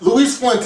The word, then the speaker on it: Luis Fuentes: Like Daisy Fuentes. Daisy Fuentes. Luis Fuentes. Yeah, there you go.